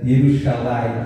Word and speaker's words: Jerusalém: celestial Então esse é Jerusalém no hebraico não tem a letra J então eles pronunciam com i yerusalem mais ou menos assim que é então habitação